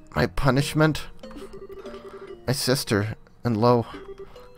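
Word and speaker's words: Loewe: My sister and Lo. In German, that name would technically be pronounced Löwe, but they're not really consistent about that, or I don't know.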